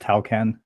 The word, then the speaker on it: Tawcan: but I am delighted to have Bob from toon I hope I'm pronouncing that right you can correct me but Bob welcome to the show yeah thanks for having me guys yeah it's pronounced Talan excellent my pronunciation can be a little bit